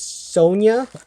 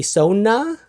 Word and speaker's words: Sona: I I feel like I want to pronounce her name as Sonia, but it's obviously Sona.